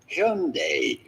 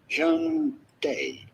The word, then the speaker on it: Hyundai: Well, I'm going to give you a pronunciation that is as close as you can sort of get it from the original genuine Korean pronunciation of the brand, and that would be Hyundai. Hyundai.